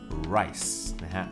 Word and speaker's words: rice: gharial ไดรซ์อาจจะฟังดูเหมือนกับข้าวเกาหลีก็คือทุเรียนร์สเพราะภาษาอังกฤษคำอาจเริ่มต้นด้วย a i o u อยู่เช่นคำว่าแอนเนี่ยนะครับมันก็จะมีการเชื่อมเสียงกันนั้นคะเรียนรา S ระวังนะครับอาจจะไปฟังเป็นข้าวเกาหลีก็ได้และคำว่าข้าวนะครับก็ต้องออกเสียงตัวออเร้นชัดนะครับ Rice Rice เพราะถ้าออกเสียง least เป็นเสียงตัว L หรือเสียงคล้ายๆลอลิงฝรั่งทั้งโลกจะฟังว่าเขานะครับหรือไร้นะฮะไร้ต่อไปนะครับเรามาดูเรื่องปลาใช่ไหมครับปลา 2 ชนิดที่เรากินกันบ่อยๆก็คือปลาทูกับปลาดุกซึ่งปลาทูก็คือแม็กซ์ครบและบาดุกก็คือแคปปิดนะครับออกสิ่งดี